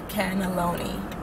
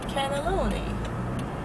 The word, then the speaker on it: cannelloni: night canaan and nolan canaloni no it was more syllables no c-a-n-n-e-l-o-n-i cannelloni oh yeah because we